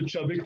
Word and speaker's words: Chubbuck: So the technique that you teach, Victor, is the, and I know I'm going to mispronounce it, but you can help me, the Chubbuck or Chubbuck? It's based on the Chubbuck technique.